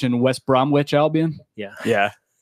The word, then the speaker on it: West Bromwich: yeah that's Norwich and West Bromwich Albion yeah yeah what's with the silent W I don't get it in the middle of words silent W oh we cut things